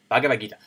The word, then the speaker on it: Bhagavad Gita: One of the canons of yoga is a book called the Bhagavad Gita. I think I messed that up. I think I said it wrong. Bhagavad Gita.